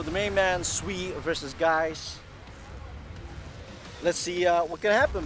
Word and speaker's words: Guice: Am I pronouncing it correctly? Guice. Yeah. So the main man, SWE versus Guice.